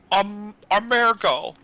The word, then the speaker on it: Ahmaergo: There's also this dwarf who's very dangerous, named Amergo. It's spelled Ahmaergo.